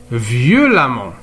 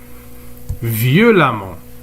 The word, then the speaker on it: violemment: dans l'eure adverbe par exemple violon il devient violemment violemment eux on ne prononce à méchant il devient méchamment alors les